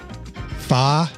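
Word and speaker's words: pho: a deep appreciation for fa which is spelled pH and you probably say it fo but it's really I knew it was fa you know how I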